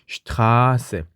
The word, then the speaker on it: Straße: 자, 모음 뒤에 Sz가 있을 경우는 앞에 있는 모음을 길게 발음하죠. 그래서 Straße, Straße, R을 길게 발음해야 되죠.